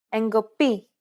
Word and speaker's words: εγκοπή: When these double consonant combinations are within a word and after a vowel, they are usually pronounced with nasalization, and they sound like this. Ng, φεγγάρι, ng, εγκοπή, μb, αμπέλι, nd, ένταλμα. The first 2 sounds are